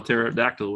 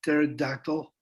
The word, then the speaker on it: pterodactyl: right i always forget you smell pterodactyl with a silent p all right scientists